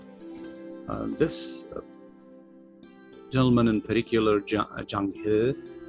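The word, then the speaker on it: Zheng: this gentleman in paricular Jang as it's pronounced correctly in Chinese he he's uh was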